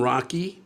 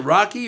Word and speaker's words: Rock: This is uh from Rocky or Rock. Oh. Is that you? Yes. Hm? Yes. What did you just And how do you pronounce it? Rocky or Rock? It's Rock.